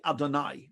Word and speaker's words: Adonai: Now, you might know that we Jews do not pronounce that name ever. Instead, we say Adonai, which means my God or our God or God.